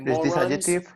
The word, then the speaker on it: morons: It sounds like morons as in more on.